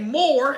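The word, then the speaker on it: Moir: Flight Time, and that band was Jimmy Jam and Terry Lewis and a fellow named Monte Moore, M-O-I-R, I believe is how you pronounce his last name.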